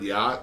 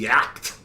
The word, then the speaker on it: yacht: Now, if anybody out there can tell me why we pronounce the word yacht the way we do when it's spelled Y-A-C-H-T, I mean, that should be yacked, right?